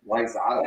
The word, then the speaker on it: Wayzata: Which is, funnily enough, one of the most mispronounced Minnesota towns in the state. Really? Yeah. I didn't know that. You'd think it'd be Edina, because it's spelled like Edina. But no, It wasn't, huh? no, it's Wayzata. The wet surface is a